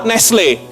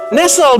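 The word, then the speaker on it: Nestlé: Dan jika Anda tahu Nestle, sebenarnya Nestle bahasa Inggrisnya adalah Nestle. Nestle bukan Nestle. Kita suka bacanya Nestle, tapi dibaca yang benar adalah Nestle.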